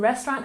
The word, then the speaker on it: restaurant: wound wrong wrong and restaurant has emphasis on the first syllable restaurant restaurant good so